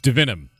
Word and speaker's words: Divinum: So it's Dinom. I was not pronouncing it right. Yes, it is Latin.